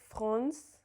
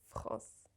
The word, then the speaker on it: France: So, for example, the word France is pronounced without any N in it. It's not France, it's just France.